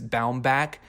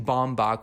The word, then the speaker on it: Baumbach: it reminds me of I heard him pronounce his name is bound back and it blew my mind because I've been saying bomb BOC which just seems so much easier to say maybe I'm just an